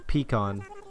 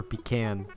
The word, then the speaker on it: pecan: it's who are you pecan or pecan whatever you want to pronounce it i say pecan you say pecan i'm sorry but you're